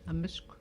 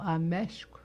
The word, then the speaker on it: Amishk: On dit pas Ameshk. On dit Amishk.